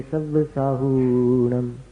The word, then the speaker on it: सव्वसाहूणम: नमो लोए सव्वसाहूणम, हु दीर्घ होना चाहिए।